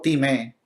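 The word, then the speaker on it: τιμή: Honra, del griego time, con acento en la E.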